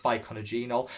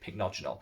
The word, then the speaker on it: pycnogenol: the channel where I used to call it pycnogenol before I actually realized you pronounced it pycnogenol?